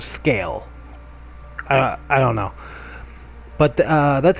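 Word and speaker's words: Sgàil: It's spelt Seagal, but they say it's the island of Scale.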